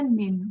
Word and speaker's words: 您: Itu bacanya nin. Jadi ni pakai n, nin.